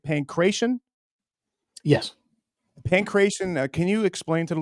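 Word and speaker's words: Pankration: Pancration.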